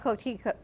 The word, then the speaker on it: coquito: And we're going to have to toast everyone with some homemade coquito. How do you pronounce it?